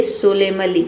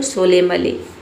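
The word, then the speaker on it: solemnly: गंभीरता से सोलेमली सोलेमली यहां पे देखिए एन को हम प्रोनाउंस नहीं करते हैं। एन लेटर यहां पे साइलेंट रहता है। किसी भी वर्ड में अगर आपको एम के बाद एन दिख जाता है तो वहां पे एन को प्रोनाउंस नहीं किया जाता है। एन लेटर साइलेंट रहता है। तो केवल इसे पढ़ेंगे सोलेमली यहां पे म कर लेना है आपको सोलेमली स्वेच्छा से उलटेली उलटेली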